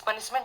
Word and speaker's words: punishment: तो एक चीज़ देखिए यहाँ पे ध्यान देने का ये है कि जो जो यूएस में या अमेरिका में जो जो प्रोनाउंस करते हैं ना, इनका प नहीं होता, इनका फ होता है। तो अभी ध्यान से सुनिएगा, पनिशमेंट नहीं बोल के ऑलमोस्ट फनिशमेंट बोलते हैं।